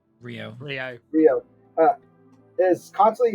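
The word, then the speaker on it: Ryo: The perfect leading man, uh, Rio Rio, how's it pronounced? Rio.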